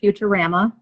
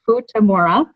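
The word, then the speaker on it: Futamura: is for tomorrow and no it's not pronounced futurama a kiss that's a question it is food tomorrow and we are at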